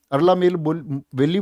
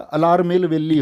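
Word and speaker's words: Alarmel Valli: याद कर लिया आपने अरला मेेल वली बोलता हूं मैं इसको दरअसल में व अरला मेेल वली नहीं होता अला मेेल वली होता है रियली सॉरी फॉर दिस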